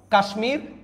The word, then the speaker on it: কাশ্মীর: কুষমান্ড মটা উচ্চারণ হচ্ছে কাশমীর মটা উচ্চারণ হচ্ছে দেখেন কাশমির কাশ্মীর আয়ুষমান আয়ুষমান আয়ুষ আয়ুষমান